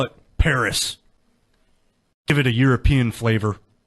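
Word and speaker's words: Perris: dead indians we just killed let's call it Paris give it a European flavor how did them Frenchies spell it P e r r i s yeah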